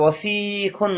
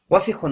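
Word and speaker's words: وَسِخٌ: এই শব্দটা দ্রুত করতে হবে, কোথাও কোনো মদ নেই, টান নেই। ওয়াসিখুন ওয়াসিখতুন ময়লা।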